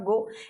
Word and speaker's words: Goe: Love I डू नॉट गो। इसको कोई गोए गोआ Gomu gonna कुछ नहीं पढ़ना भैया, ये गो लिखा हुआ है, स्पेलिंग में एक ई एक्स्ट्रा है, ये इनका नाम है।